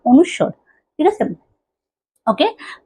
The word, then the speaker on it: অনুস্বর: মানুষের কিন্তু অনেকে কিন্তু কি এই যে এই উচ্চারণটা পারে না, অনুস্বর, ঠিক আছে? তো আমরা আগে বলতাম অনুষ্কার কিন্তু অনুষ্কার না, অনুস্বর, ঠিক আছে?